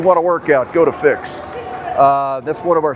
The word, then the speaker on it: Fyx: That's the spelling, but it's pronounced fix.